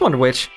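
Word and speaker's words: Wonder-Witch: go to Santa just wonder which rhymes with witch mhm okay another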